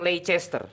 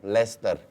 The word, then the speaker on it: Leicester: Leicester. Not Leicester. No, Leicester. So Leicester. You delete the C in the middle.